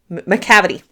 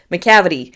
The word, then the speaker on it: Macavity: It rhymes with gravity. Macavity, I believe. Macavity.